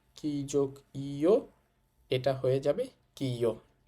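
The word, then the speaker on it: きゃ: কিউ কি এর সাথে যুক্ত করেছি ইও কিও কি যোগ ইয়া কিয়া কি যোগ ইউ কিউ কি যোগ ইও এটা হয়ে যাবে কিও আমাদের কি কি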